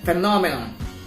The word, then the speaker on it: phenomenon: the first primary one and then phenomenon we put the secondary stress on the second syllable which is on na amplitude the secondary stress